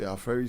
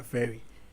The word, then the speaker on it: Aferi: but at the time, most people mispronounce their ferry. Okay. Some people pronounce it free. Everyone had their own way of pronouncing it.